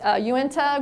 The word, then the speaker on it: Uinta: I didn't know how to pronounce their name, so I had to look that up too. It's Uinta ground squirrels.